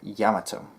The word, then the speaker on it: Yamato: my dog so come here so it's pronounced by them Yamato you know that's what I prefer yato to